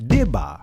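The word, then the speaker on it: דִּבָּה: Now let's go to the Hebrew definition of the word daba, which in modern Hebrew is pronounced dibah, which transliterates to the word report.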